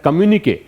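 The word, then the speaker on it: communiqué: तो अब चाइना के जो विदेश मंत्री हैं जिसका नाम है किन गेंग, हु साइन द कम्युनिके। इसका प्रोनाउंसिएशन होता है कम्युनिके, इसका मतलब होता है ऑफिशियल स्टेटमेंट।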